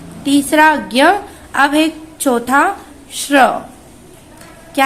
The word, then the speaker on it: श्र: हमें सिर्फ इसका, इनकी ध्वनि सुनाई दे रही है। जब हम इसका उच्चारण करते हैं तो इनकी ध्वनि निकलती है। श्र, बोलिए मेरे साथ में, श्र, श्र, बोलिए श्र, श्र।